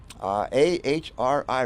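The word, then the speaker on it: AHRI: as how do you what is how do you pronounce it Aura no no a-h-r-i HRI a-h-r-i represents more than helmet 300.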